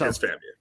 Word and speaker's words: FAMU: I just didn't say it like that. You just said every letter. I said FAMU, but yes, FAMU. It's FAMU.